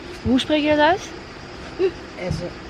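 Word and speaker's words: Èze: Hoe spreek je dat uit? Ezze. Ezze.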